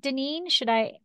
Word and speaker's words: Dineen: And I should have asked, is it Dineen? Am I saying it correctly? You said it absolutely perfectly, Lori.